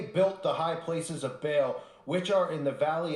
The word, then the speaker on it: Baal: with the little child it's spelled b-a-a-l as in bail worship oh I'm so